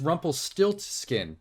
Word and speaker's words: Rumpelstiltskin: I saw the subtitle, it's Rumpelstiltskin with a T. Stilt. I've been saying it wrong my entire life. I never knew there was that extra T in there.